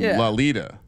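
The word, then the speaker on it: Lauletta: me why laletta cheese oh it sounds like velvet so we got to say his name lalita lita cheese yeah there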